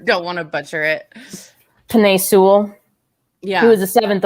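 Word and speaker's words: Penei Sewell: was um god i let me find his pronunciation because i you know i suck at these you don't want to butcher it penne sewell yeah he was the seventh overall pick and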